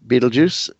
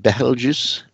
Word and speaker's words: Betelgeuse: Beetlejuice, Betelgeuse. I do believe it's more of an Arabic name, so it should be pronounced more like Betelgeuse.